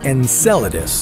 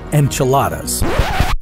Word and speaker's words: Enceladus: would happen if we found alien life on Enceladus first of all it's pronounced Enceladus not enchiladas sorry muchacho Enceladus is Saturn's sixth largest moon